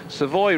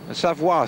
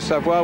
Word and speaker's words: Savoie: We've come out of the Savoy region, Savoie, sorry to pronounce it right, Savoie, which was to the